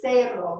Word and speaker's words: cero: So 0 is cero. Remember, E is long A. So like the cero, cero.